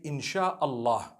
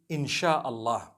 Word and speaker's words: Insha'Allah: They pronounce the S-Y the way we pronounce S-H. So they can write it how they want, for as long as when people read it, they read it Insha'Allah.